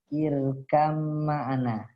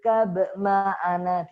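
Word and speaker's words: ارْكَبْ مَعَنَا: Maka langsung dibacanya ya bunayyar kam. Tidak boleh dibaca ya bunayyar kab ma'ana. Tidak boleh.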